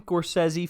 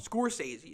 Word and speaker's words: Scorsese: ten questions okay what martin gorsezi film scorsese isn't it scorsese yeah you even know